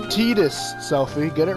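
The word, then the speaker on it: Tidus: walk are all wrapped up in their ballgame pronounced teetus selfie get it right not today sorry why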